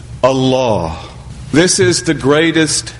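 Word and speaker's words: الله: It is given tafkhim, which means emphasis. So that if we were to pronounce the word according to standard modes of Arabic pronunciation, we would say Allah, Allahu.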